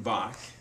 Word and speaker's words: Bach: played at the beginning, that was Johann Sebastian Bach. His last name is spelled B-A-C-H, Bach.